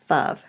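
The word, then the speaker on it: ו: Now, it is spelled wow, but is pronounced generally Vav.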